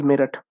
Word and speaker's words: Meerut: Next is Meerut, or Meerut, don't go spelling wise, but its pronunciation is Meerut.